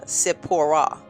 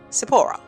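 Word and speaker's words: Tsipporah: And it's pronounced uh Sepora. Sapora.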